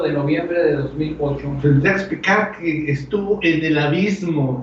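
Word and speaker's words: Jacques Piccard: El nombre es Jacques Picard, así se pronuncia, Jacques Picard.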